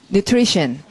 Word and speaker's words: nutrition: 발음은 nutrition. 물론 T-I-O-N 앞에 강세 nutrition 이렇게 할 거고, nutri가 원래 간호사 혹은 유모를 nurse 해서 이제 영향을 준다는 거.